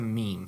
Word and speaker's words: meme: not a me or a m it's a meme so good job pronouncing it correctly because a lot of people